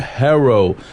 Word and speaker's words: Teijeiro: Annette Teijeiro. Teijeiro. So the J is silent, huh? It's like an H sound, because that's the way it is.